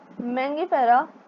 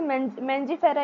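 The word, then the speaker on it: Mangifera: The scientific name of mango is written as मैगिफेरा indica. बहुत लोग इसे मेंजीफेरा इंडिका भी बोलते हैं।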